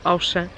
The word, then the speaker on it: Auchan: Amores, eu sei que vocês corrigem quando eu digo Auchan, mas eu digo com a pronúncia de Portugal ao ler, ao ver a palavra.